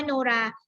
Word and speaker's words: มโนราห์: อย่าง เช่น คำ ว่า มโนราห์ มโนราห์ มี หอย อีก อยู่ ๆ ใช้ กรรม แล้ว ก็ มี การันต์ นะ คะ อ่าน ว่า มโนราห์ หอ หีบ ตัว นี้ ไม่ ออก เสียง ค่ะ เพราะ มี ตัว การันต์